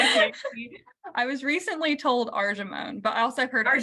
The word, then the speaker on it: Argemone: It's and you may need to correct me in how I'm pronouncing it, but it's argamini, argamini mexicana.